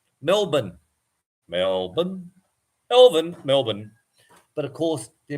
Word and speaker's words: Melbourne: from Melbourne Melbourne Australia love how Americans say born you know like the Bourn identity you know Jason Bourn so of course Melbourne we call it Melbourne Melbourne Melbourne mour Melbourne but of course